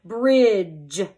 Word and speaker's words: bridge: did like the word bridge you're going to underline the three letters because it is a try graph you will cross out the D and the e because it is silent and you're going to